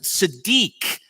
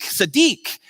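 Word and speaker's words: צדיק: was at our services last night because you pronounce it Siddiq but then someone was in our services who actually from Israel and she corrected me afterwards that I didn't say right so it's Adisa deke Sadiq and all that means is all that means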